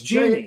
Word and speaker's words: Jeannie: Is it Jeanne? It's either Jeannie, Jean, or Jeanne. Oh, it's Jeannie. It's JH. It's Jeannie. It's Jeannie.